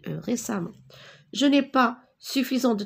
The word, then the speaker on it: récemment: resam les samo alors regardez je prononce à mais j'écris récemment je n'ai pas suffisant